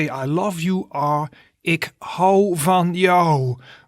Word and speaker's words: ik hou van jou: In the middle there you see the way you pronounce it. So to say to someone I love you in Dutch you say ik hou van jou.